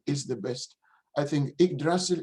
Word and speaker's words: Yggdrasil: I think Yggdrasil is really Ig or Ug, whichever pronunciation you want, modern or Old Icelandic.